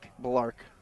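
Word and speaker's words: Blalark: Balark. It's like we need a we go to Could we go to pronunciation school?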